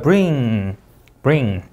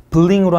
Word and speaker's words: bring: 자, R 뒤에 I라는 모음 나왔죠? 그러면 받침 없는 리을 bring 이렇게 제가 한국말로 쓴 이유는 여러분 이해를 돕기 위해서 쓴 거고요. bling으로 하면 안 되겠죠. 맞죠? RDI란 모음 났으니까 받침이 없죠. bring bling이라고 읽으시면 안 됩니다.